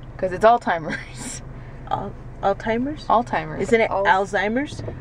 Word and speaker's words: Alzheimer's: surround sound now okay Alzheimer's that was a t there's no T there but did you hear the T I heard a c listen again he says it three times Alzheimer's Alzheimer's see zymers Alzheimer's he's saying like a German there's no tea in German that's the difference between